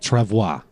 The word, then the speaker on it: travois: Yes, Wikipedia says it's pronounced travois.